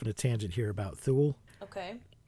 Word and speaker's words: Thule: And somewhere I read that it was pronounced Thule, and I'm like, I'm not pronouncing it that way. That sounds dumb. Primordial Thule just sounds more cool than Primordial Thule. So when these guys in this movie pronounced it Thule, I was like, fuck you, internet. I'm not the only one that thinks Thule is a stupid way to pronounce it.